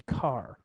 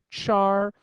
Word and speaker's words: char: long data type called a car otherwise pronounced Char that's open for debate I'm more of a car kind of a guy don't know why but